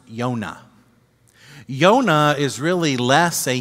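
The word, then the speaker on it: יוֹנָה: the biblical book jonah jonah in hebrew is pronounced yonah yonah is really less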